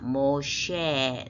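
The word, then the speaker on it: משה: 우리말은 모세에 영어는 모고 히브리어로는 모쉐 있니다 모쉐 끝에 해는 발음 나지 않고 그래서 모쉐 이렇게 되 다시 읽어보면 하이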